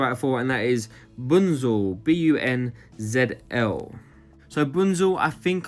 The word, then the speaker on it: Bunzl: Up next on this list is a company I haven't spoken about before, and that is Bunzl, B-U-N-Z-L.